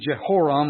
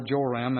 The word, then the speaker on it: Jehoram: First, Ahaziah, and then Jehoram, or Joram as it's sometimes pronounced.